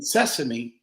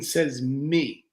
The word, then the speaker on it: sesame: sitting here right now listening to it's another mispronunciation of the word that we don't pay attention to it's not open sesame like sesame seed it's open SES me yeah say me will yeah I mean two